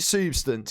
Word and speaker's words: Soobstance: pronounce your name wrong is it substance is that that's how you pronounce isn't it yeah yeah okay so there